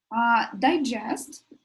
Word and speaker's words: digest: Digest, the stresses on the first is digest.